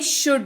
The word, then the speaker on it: should: चलिए आगे बढ़ते हैं, बात करते हैं शुड की। SHOULD, एल यहां पर भी साइलेंट रहेगा और एल को हटा करके अगर जो इसको आप पढ़ेंगे दैट इज शुड, ये पढ़ेंगे, ठीक है।